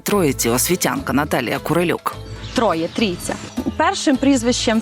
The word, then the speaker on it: Трійця: Майже 2000 мешканців своє село називають Трійця Це принципово важливо розповідає місцева вчителька представниця тутешньої Просвіти Прийшла Радянська влада і перейменували на троїця во їм так зручніше На їхній мові російські челюсті не можуть вимовляти Трійця За легендою заснували село